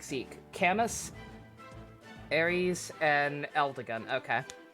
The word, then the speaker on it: Camus: But already, that will be saved for it's pronounced Camus.